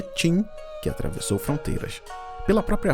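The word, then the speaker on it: Qin: Ali o território era chamado de Joan W, mas foi a força da dinastia Q, que se pronuncia Tin, que atravessou fronteiras.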